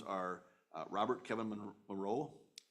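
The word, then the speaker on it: Marois: Those names are Robert Kevin Moreau, M-A-R-O-I-S, I believe that's how you pronounce Moreau, Cameron Clark, and Jim Schottmuller.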